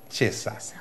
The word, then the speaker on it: Cesa: que ya saben, Chesa. Chesa. Se escribe Chesa. ¿Cesa? Pero se pronuncia Chesa.